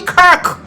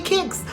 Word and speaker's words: Kirk: pronounce the man name, he's not Charlie Kicks who said D was a teacher. Who said D was a teacher? Because even when she saw someone post the name and said it's Charlie Kirk, she couldn't pronounce Kirk. She kept saying Charlie kicks.